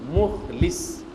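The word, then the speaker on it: مخلص: Remarquez bien la prononciation du mot. Mukhlis, c'est le lam avec kasra. C'est L avec I, mukhlis.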